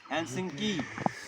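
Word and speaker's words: Helsinki: तो जो फिनलैंड की जो राजधानी है हेलसिंकी, थोड़ा सा प्रोनाउंसिएशन में ना, जो हमारी नाक है उससे प्रोनाउंसिएशन करना पड़ता है, हेलसिंकी, ठीक है, हेलसिंकी।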